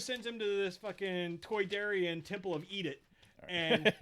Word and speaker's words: Toydarian: Toydarian is the way they pronounce it. Toy? Yeah. Toy like they're from...